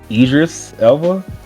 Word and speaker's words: Idris Elba: name was it it Doris Alba iterus Alba Idris Elba Idris is that how you say his name